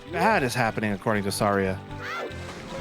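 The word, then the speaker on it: Saria: Also, I'm going to say Serria. The the correct pronunciation is Sara, but when I was a kid playing this game, I read it as Seria, and that's in my head the right way to say it.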